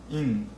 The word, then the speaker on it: 印: Alright, I'm working on this last character, in. It's same in Chinese and Japanese pronounced similarly. In means seal.